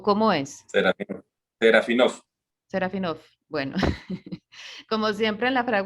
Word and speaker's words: Serafinof: Me disculpa si lo pronuncio mal. ¿Serafinov o cómo es? Serafinov.